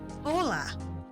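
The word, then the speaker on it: hola: Ola. Ola. Yeah, we don't say the letter H. We don't pronounce initial letter H.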